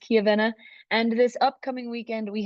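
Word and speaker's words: Chiavenna: finals in kavena Italy I was gonna say chiaa but it's uh pronounced kavena and this upcoming weekend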